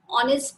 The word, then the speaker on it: honest: See, in the examples are honor, honest man, are. In the above given example, though our first letter H is a consonant, but while pronouncing these words, H is silent.